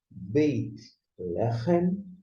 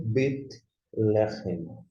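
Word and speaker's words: בית לחם: uma mudança, e você lê da seguinte forma: Beit Lechem ou Bet Lechem. Seja pronunciando o iod ou não, a ideia é a mesma.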